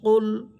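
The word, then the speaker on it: قُلْ: কফ লাম পেশ কুল, এটা হচ্ছে কফ, জিহ্বার গোড়া উপরে তালুর সাথে লাগবে। কফ লামকে ধরতেছে লাম হরফের উপর সাকিন। কফ লাম পেশ কুল।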